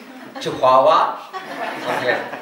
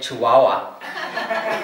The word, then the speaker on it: Chihuahua: before I came here, actually, I used to pronounce it completely, wrong. Chihuahua. So people say to me, "Where are you going?" I say, "Chihuahua." Is that China? No, it's Mexico. And then I have to say Chihuahua.